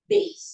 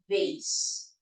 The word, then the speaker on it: vase: Okay, so it's not base, it's vase. Vase.